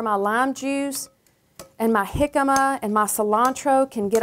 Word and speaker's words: jicama: Now, in the grocery store, you may pass it up because you don't understand that it's spelled J-I-C-A-M-A. That's jicama. Jicama is a wonderful fruit, and it looks like this.